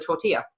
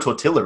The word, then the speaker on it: tortilla: the least and that happens to be the tortilla or tortilla if you want to be a gringo yes